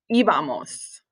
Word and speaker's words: íbamos: And accent on the I, íbamos.